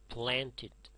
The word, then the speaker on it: planted: If the verb ends in t or d, when you add ed, it is pronounced id.